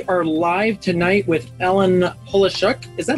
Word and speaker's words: Polishuk: We are live tonight with Ellen Polishuk. Is that how you pronounce it? Polishuk, that's very good.